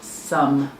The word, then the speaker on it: some: This is that tricky one where the O is saying Oh, it's E. And the E is silent. Some.